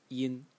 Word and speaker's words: 音: So the top part of the character, this thing that I'm highlighting in green, is pronounced yin, and in the first tone, and it means sound.